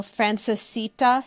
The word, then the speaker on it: Francesita: already established and registered your business already so Frances Sita am I saying it right yes Frances the